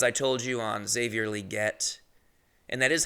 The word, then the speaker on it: Legette: told you on Xavier liette and that is how you say his name it's liette you got to say the e sound which is tough I people say Legette